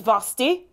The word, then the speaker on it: Vasthy: know some of yours my name is vosti it rhymes with frosty yes now the most